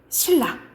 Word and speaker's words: 신라: 칼날, 신라 이런 식으로 니은과 리을이 만나면 니은이 어떻게 발음된다고? 리을로 발음된다고. 이게 유음합니다.